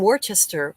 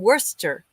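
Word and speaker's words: Worcester: know the best um Robert from Worchester or W Worster I was taught how to say it properly welcome Robert from Worster it's spelled Worchester but US America Americans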